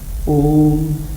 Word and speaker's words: Om: It is the combination of 3 letters, A-U-M.